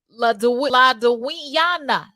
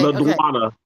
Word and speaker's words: LaDonna: And then we got La Duiana. Lady. No. Hey, let me pronounce the name before she spazzes out. Okay. LaDonna.